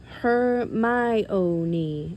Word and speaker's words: Hermione: say her name properly he kept calling her her own her my own she said slowly and clearly her on close enough she said catching Harry's